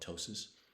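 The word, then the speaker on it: ptosis: bolox is uh called Tois uh uh PT o s i the p is silent um but that's where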